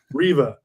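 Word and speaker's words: Reva: and by the way i have mispronounced her name as rava so many times i'm sorry riva gotta get that they're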